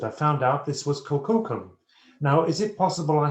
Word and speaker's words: Kukulkan: I found out this was Kukulkan. Now, is it possible I had seen Kukulkan or Kukulkan? I pronounce it Kukulkan, it's simpler.